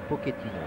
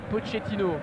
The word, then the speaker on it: Pochettino: Alors Cyril, on dit Pochettino ou Pochettino? Alors on dit Pochettino, pour moi c'est sûr, parce qu'il est argentin, donc argentin c'est de l'espagnol, et en espagnol le CHE se dit Che.